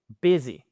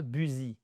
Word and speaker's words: busy: Busy, et pas busy, busy.